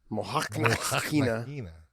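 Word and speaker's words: Mokhnatkina: Yeah, you've got to say the T and the K go together. Mohanakina.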